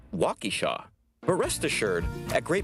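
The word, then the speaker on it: Waukesha: pronouncing okon walk or walk Shaw or is it Walky Shaw but rest assured at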